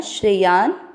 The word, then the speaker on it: श्रेयान्: श्र का अर्थ हुआ श आधा और र पूरा। श शंकर जी वाला आधा है, र पूरे पर ई की मात्रा लग जाएगी श्रेय। या के साथ आधा न श्रेयान, आधे स के साथ व पूरा स्व।